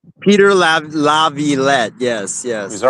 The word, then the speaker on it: Laviolette: I said his name wrong. Peter Laviolette. Peter Laviolette.